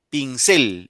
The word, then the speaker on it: pincel: Si fuera ahí la I, diría pincel.